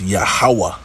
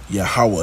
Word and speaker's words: Yahweh: But we believe, okay, that the proper way of pronouncing E's is ha. It wasn't ye, Yehoweh or ye, Yahweh. No, it's Yahweh. Yahweh.